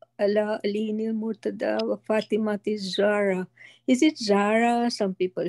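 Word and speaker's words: Zahra: આપણે જારા કે ઝારા કે ઝોરા કે, ઓકે, નંબર વન.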